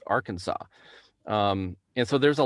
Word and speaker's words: Arkansas: actually say arkansas which the way it's spelt you would think are kansas but it's arkansas um and so there's